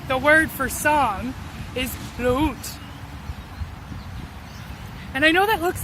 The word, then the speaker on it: låt: In Swedish, the word for song is låt. And I know that looks like an A, but that special little accent on top changes the pronunciation.